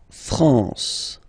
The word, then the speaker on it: France: France. La France. Okay. R N here. Nazal la France.